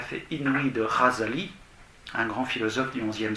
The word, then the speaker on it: Ghazali: Et alors, vous avez cette parole tout à fait inouïe de Ghazali, un grand philosophe du XIe siècle, G-H-A-Z-A-L-I, ça se prononce Ra, c'est le Raïn en arabe, qui a été